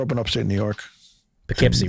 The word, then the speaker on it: Poughkeepsie: because in this situation p-o-u is puh as in puck you do not pronounce my name as pah oh you don't say pow kipsy started playing keyboards and